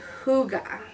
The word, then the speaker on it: hygge: to cut out snuggles pups and tigey he pronounced hygge is a danish word that basically means feeling